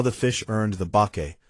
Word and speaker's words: bake: They compared the fish to bake mono, shape-shifting monsters from Japanese mythology, which is how the fish earned the bake, pronounced bake, suffix in its name.